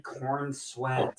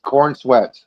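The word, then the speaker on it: Corenswet: Is it really Cornswe? Yes, Cornsweat.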